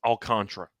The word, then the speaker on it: Alcantara: By the way, memorabilia, it is pronounced Alcantara.